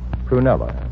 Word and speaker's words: Prunella: Prunella? Uh-huh, with the accent on the prune. That's the way she pronounces it, I mean.